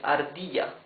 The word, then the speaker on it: ardilla: You can see it's a smoother sound. Ardilla. It's not ar, it's ardilla.